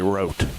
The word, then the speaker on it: Rote: Rote, R-O-T-E, or Rote. They just say wrote. Probably. Wrote without the W on the front.